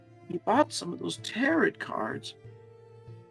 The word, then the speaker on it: tarot: He bought some of those tarot cards." She pronounced it like carrot.